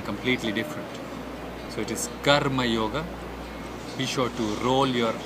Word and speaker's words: Karma Yoga: If we take a look at the types of yogas, Karma Yoga. Karma Yoga. It is not Kama Yoga. Kama means desire, and that could mean something completely different. So it is Karma Yoga.